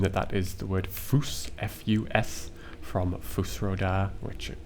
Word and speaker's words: Fus: once we learned that this is pronounced foose f-u-s then we can see